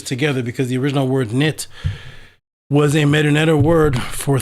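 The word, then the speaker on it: Neith: the goddess who was the way you pronounce her name was knit and that's where you get the word knitting from from the the string people knit things together.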